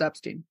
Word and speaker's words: Epstein: ] his name is it's still pronounced Epstein uh no one can